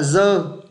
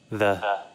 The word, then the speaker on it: the: Nhiều bạn phát âm nó là dơ. Giữ giờ của tiếng Việt, dơ. Nhưng nghe là phát âm của họ nhé. The.